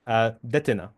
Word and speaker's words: Detyna: The surname is a bit tricky, and How do you pronounce it exactly? Detyna, Detyna.